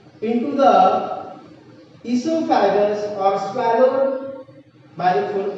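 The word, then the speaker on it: oesophagus: O is very silent here, so you can pronounce esophagus.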